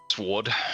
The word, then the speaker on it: sword: the W and sword sword yeah he he said he said you don't pronounce the W and sword I'm like yeah you